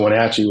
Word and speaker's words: Wenatchee: And coming to Wenatchee, which awesome, you said it right. Not a lot of people can pronounce that name, but coming back here, there